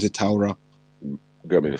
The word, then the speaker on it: Torah: That's how you pronounce it, Torah.